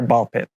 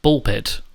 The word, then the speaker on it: Ball x Pit: Hi, today I'm excited to share Ball Pit. Oh, it's just pronounced Ball Pit.